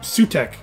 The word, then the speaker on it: Sutekh: How do you say this name anyway? Sutekh. I am Sutekh the Destroyer. Oh, it's just Sutekh.